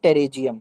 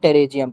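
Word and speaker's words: pterygium: इसको मॉडर्न में कहते हैं टेरेजियम। ठीक है? मॉडर्न में हम कहते हैं टेरेजियम। पी साइलेंट है।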